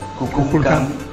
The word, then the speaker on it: Kukulcán: que si tú los unes forman la voz Cuculcán, que es la voz de Cuculcán, por lo